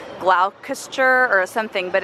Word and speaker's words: Gloucester: It's spelled like what you would think would be like Gloucester or something, but it's Gloucester.